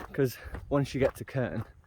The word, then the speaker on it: Krn: Krnu, this is or probably called Krnu or Krnu, because they pronounce, Slovenians pronounce R's a bit like Scottish, so like Radela.